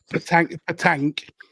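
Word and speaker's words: pétanque: Cake, whatever it's called. Patank, as it's actually called.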